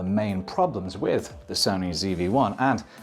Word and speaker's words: ZV-1: Sony ZV-1. There's a lot to like. It's compact, it's capable, and when you use the American pronunciation, it sounds like Stevie, an underrated character from Malcolm in the Middle.